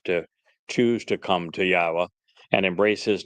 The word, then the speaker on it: Yahowah: how do you know that yah's name is pronounced yahwa you know uh languages change over time doesn't